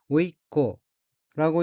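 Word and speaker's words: 甥っ子: 둘째 줄 왼편 어휘는 한자가 생질생, 아들 자자가 들어있고 일본어로는 오이코라고 읽으며 오이코는 조카를 뜻합니다.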